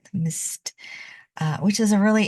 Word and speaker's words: Msst: we are looking at M MSS that's how you spell it Mist uh which is a